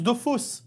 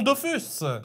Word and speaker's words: Dofus: depuis presque 20 ans personne ne comprend que ça se prononce de fausses et non Dofus mais si vous ne